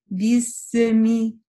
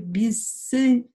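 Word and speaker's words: بِسْمِ: и говорят вот так: бисми, бисми, да, вот этот звук с в конце, его не должно быть. Вы плавно переходите с син на мим. Бисми, бисми, да, то есть не должно быть бисы, бисми.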